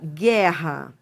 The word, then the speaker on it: guerra: Ou seja, realmente você não você não escuta o som do U. Você você escuta o som do G. Então, por exemplo, quando você fala assim, ó, guerra, isso aqui é um dígrafo. Por quê? Porque você tem duas letras e um único som. E por que que é um dígrafo consonantal e não vocálico? Porque é o som da consoante que prevalece. O a vogal você nem pronuncia, entendeu?